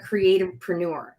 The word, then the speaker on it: Creativepreneur: And then my new company at the Creativepreneur, Creativepreneur. So it's entrepreneur without the entre. It's creativepreneur. I know it's a long-ish word, but it'll make more sense as we speak to it more, right?